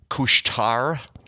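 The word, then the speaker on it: Couche-Tard: went to the little store called the uh cushtar which means some it means 7-eleven okay it's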